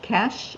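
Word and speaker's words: cache: might have more room yeah especially the C cach is that how you say it yeah empty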